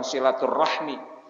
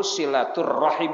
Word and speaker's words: silaturahim: kitanya Havana oh wah silaturahmi dan silaturahim bacanya sirotul rahim bukan silaturahmi Ya Allah yang fase hantu silaturohim bukan silaturahim ibu kan silaturahmi tapi silaturohim wa silaturahmi dan menyambung silaturrahim tak